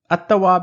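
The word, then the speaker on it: التَّوَّاب: word assat next example I'm not saying Al but I'm saying atab means the acceptor of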